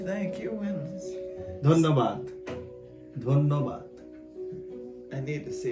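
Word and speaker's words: ধন্যবাদ: Dhanyabad.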